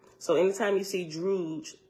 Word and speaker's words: Druj: so anytime you see druge d r u j in a wasp is is druge right it rhymes with stooge and B okay this